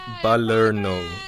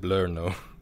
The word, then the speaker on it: Palerno: You kind of slurred fun. The syllables together, but we get what you mean. Yeah. It's Palerno, but you said Blurno, so.